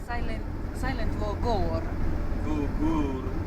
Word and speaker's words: Goore: я линзу не снял ребята больно А почему произносится Сан Сайлент во гор ГУР ГУР это правильно Да А я раньше сказала во